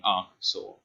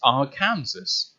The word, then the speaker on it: Arkansas: college podcast but anne has had a big problem saying ah sore because he thinks oh it's spelt our kansas it has candles in it why is it not said cancers are kansas and it's like my